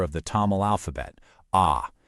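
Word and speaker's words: அ: Ah. It's pronounced like our letter A.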